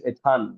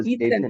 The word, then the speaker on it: Ethan: It's Etan right or Ethan. Ethan. Ethan.